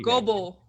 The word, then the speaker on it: Global MD: Global MD. Global, or Like go. mobile. Like mobile. Yeah, like mobile but with a G.